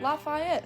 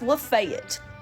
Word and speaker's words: Lafayette: no it's goddamn lebanon oh you know lafayette nope that's not right it's lafayette what the lafayette you might think this